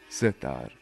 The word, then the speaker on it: Sehtar: The name of Kashmiri sitar is pronounced as Sehtar. Seh means three in Persian, and tar means strings.